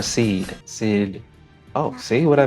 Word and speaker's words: Sidhe: But the second part of it is S-I-D? H-E. Is that Sidhe or Seed?